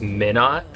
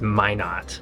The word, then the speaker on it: Minot: The whole time I was calling it Minot, North Dakota, but it's actually pronounced Minot, North Dakota. I was figuring Minot like minute, but with an ot at the end.